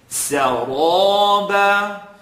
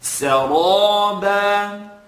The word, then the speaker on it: سرابا: But I want you to put emphasis now on pronouncing the ra heavy. Saraba. And it's not so much about the shape of your lips as much as it is the air that you're controlling in the mouth.